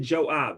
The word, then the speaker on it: Joab: you also know what job is that we pronounce it joab and he wrote yo